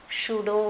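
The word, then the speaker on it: pseudo: है जिसका नाम था सुडो फोर्स यहां पीस साइलेंट है समझ में आया जो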